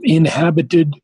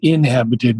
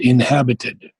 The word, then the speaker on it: inhabited: and the lines um inhabited it's not inhabited but inhabited so the accent is on the h inhabited and the only other